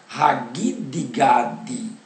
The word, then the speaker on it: Hagidgad: Gente, na Bíblia Peshitta tem assim, Hor Hagidgad, tá? Mas eles se esqueceram de colocar um U depois do G para a pronúncia ficar Hor Hagidgad, porque no hebraico não existe Gi, tá?